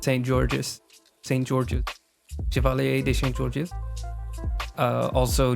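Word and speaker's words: Saint-Georges: Saint Georges. Chevalier de Saint Georges. Also Joseph Bologna. I really hope that's not how you pronounce it.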